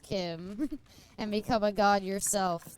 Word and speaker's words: CHIM: You either cease to exist or you was sown as Chim pronounced Kim and become a god yourself.